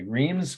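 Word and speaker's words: Reims: you're wrecking your throat just pronounce it the way the french pronounced the name of the city r-e-i-m-s dreams most people in america would say rheem's cathedral two words location is france and the date is 1428.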